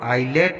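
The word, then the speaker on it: islet: आइलेट, यहाँ पर भी आई और एल के बीच में एस आया है तो इसको हम आइलेट पढ़ेंगे।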